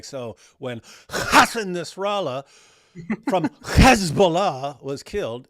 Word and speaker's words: Hassan: It's Hassan. He said Hassan. It's because Jews, they have the normal H and the harsh H.